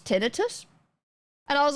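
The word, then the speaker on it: tinnitus: Maybe tinitus is one of the British pronunciation. Tinitis. Yeah, I don't know. Tinitus makes more sense to me. How to pronounce? Let's just ask Google. Tin tinitis. Tinitus. Okay. British pronunciation. Tinitus. Tinitus. American. Tinidis. Apparently, it's just tinus.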